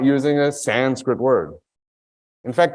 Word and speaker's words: Sanskrit: In fact, when people say Sanskrit, you're not pronouncing it correctly, you must say Sanskrit. Then I say to them, well, now you're making me pronounce an English word with an Indian accent.